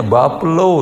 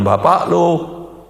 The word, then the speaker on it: buffalo: Bacanya bapelo, jangan bapak lo. Nah, kalau bapelo dibaca bapak lo lain, ya.